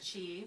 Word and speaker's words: chi: Depending on what's going on in the body, there might be a buildup of chi, which is spelled different ways. Yes, but it's usually pronounced chi.